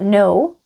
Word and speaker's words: no: Another word is no which is not no and it's pronounced no or sometimes no.